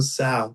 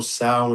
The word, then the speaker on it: Tso: General Sal. The T is silent.